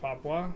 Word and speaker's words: Papua: It's pronounced Papua. It's pronounced Papua? Okay. Fair enough. Papua.